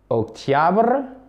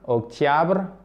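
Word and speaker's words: октябрь: La série se prononce quasiment de la même façon. Sentiabr. Octiabr. Ok? Sentiabr. Octiabr.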